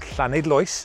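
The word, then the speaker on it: Llanidloes: in mid wales just outside a place called clan idloyce and yes i did pronounce that correctly and this is flynn cluedog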